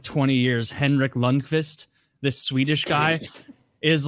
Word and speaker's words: Lundqvist: His last name sounds like I said that Kvist because so he can help him spell it. It's Lundqvist, is how you say it.